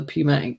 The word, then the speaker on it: pneumatic: Is it pneumatic? Pneumatic, yeah. The P is silent.